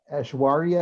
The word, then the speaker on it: Ashwari: you very much um ashwari is that how you pronounce your name yeah yeah you said it right did i i can't